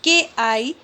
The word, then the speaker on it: chi: the greek symbol chi square and it is pronounced as k i square means chi square it helps in finding